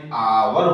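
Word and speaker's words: hour: एक एज, ध्यान रखना ये साइलेंट होता है, इसलिए इससे पहले, और ये ध्वनि स्वर की देता है, इसलिए एन आवर होगा, ठीक है।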